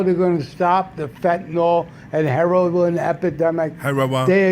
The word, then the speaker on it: fentanyl: First of all, can New York Jews and trashy Long Island people stop pronouncing it fentanyl? It's not. It's fentanyl. Yeah, fentanyl.